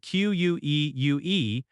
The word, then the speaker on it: queue: Queue is spelled q u e u e and it sounds like queue, one syllable. Even though the spelling looks long, the pronunciation is simple.